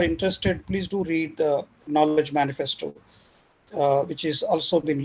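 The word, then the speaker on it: GNOWLEDGE: So this is it's called Knowledge, but spelled with G and OW.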